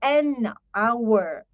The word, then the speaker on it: hour: say that we say an hour so h is silent so and hour all